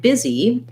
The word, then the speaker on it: busy: leads to problems in words like busy, where actually our I sound is long in this word, has a long duration. And our E sound is short. We have to hold it for a very short time.